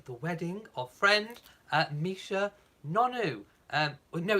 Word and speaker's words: Nonoo: Yeah, I keep wanting to say Nonoo because the N and the double O are joined, so to me it's Nonoo, but I think I've heard it pronounced Nunu, so there we go.